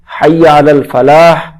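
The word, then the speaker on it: حي على الفلاح: পরেরটা হাইয়া আলাল ফালাহ শেষে বড় হাসে সে উচ্চারণ করতে হবে হাইয়া আলাল ফালাহ আও কামিয়াবি কি তারফ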